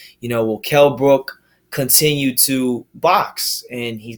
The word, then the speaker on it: Kell Brook: Kept calling him Kell Brock when he damn well knows what his name is.